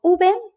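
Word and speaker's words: uve: and in latin america so in spain it's called ube and you can see in the pronunciation that actually it's pronounced like a b there is no difference whatsoever between those b and v the example that means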